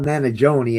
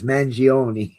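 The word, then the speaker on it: Mangione: It's not Managi, it's Manioni.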